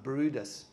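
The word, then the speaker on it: Bryde's: that's my favorite whale that's called a bride's whale or it's pronounced Brutus it was it was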